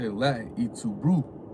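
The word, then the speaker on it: Et tu, Brute: With Julius Caesar, when they killed him, his last word was how you say it in Latin, "Et tu brute," right?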